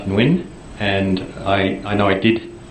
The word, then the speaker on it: Nguyen: September 21st to Neil Nagayan? I can't pronounce that. Copied many people. Is that an accurate copy of that email? I think it's pronounced Nguyen, and I know I